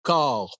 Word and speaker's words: corps: On dit les corps policiers. C'est important de bien prononcer corps policiers.